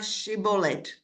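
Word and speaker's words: שיבולת: And they said to him, say na shibolet. And he said, shibolet. And he was not prepared to pronounce it properly.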